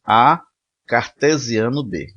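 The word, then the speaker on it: A × B: Então, produto cartesiano é um novo conjunto denotado por AXB, que a gente pronuncia assim, A cartesiano B. Não é nem A vezes B, nem AXB, é A cartesiano B, cujos elementos são pares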